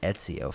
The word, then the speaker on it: Ezio: It's actually Ezio phonetically. Silent T, is he Italian?